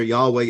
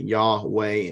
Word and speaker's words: Yahweh: The tetragrammaton, the YHWH, and again, it is consonants, so we don't exactly know for certain how it is to be pronounced, though most people have adopted the way of saying it, Yahweh, and inserting a Y-A-W,